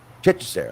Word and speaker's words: Hechicero: Hechicero, there you go.